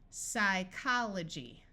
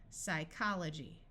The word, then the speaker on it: psychology: a city in Alaska PS says s psychology note that the Y at the end of a syllable has a long I sound and this G takes on the J sound because of the Y psychology this I will